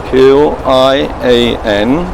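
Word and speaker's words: 千: All right, and it should be like this, Q-I-A-N, and I think it should be qian.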